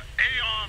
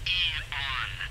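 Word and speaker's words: AEON: With the state of the world today, the AR program is... Eon. I'm sorry? It's pronounced Eon.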